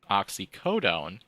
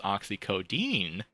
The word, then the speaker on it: oxycodone: going to go with oxycodone which everybody is mispronouncing as oxy Codine so people are seeing